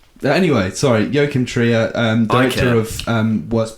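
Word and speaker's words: Joachim Trier: No, I think it's Yokim Tria. And he goes woken. No. Yin y your they pronounce J's like your I don't think the Norwegian language and me are very well suited.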